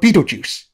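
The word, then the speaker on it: Betelgeuse: a film no the star's name was the inspiration for the film the film was spelled b-e-e-t-l-e-j-u-i-c-e the Stars spelled b-e-t-e-l-t-e-u-s-e I feel like you're pulling my leg that's a very weird way to spell it we aren't what did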